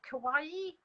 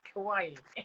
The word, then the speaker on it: Kawaii: Kawaii? Yeah. It's spelt like Hawaii, but with a bit like Hawaii.